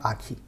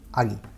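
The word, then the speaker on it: 아기: what i am trying to say aagi not aki agi let's look at one more word so here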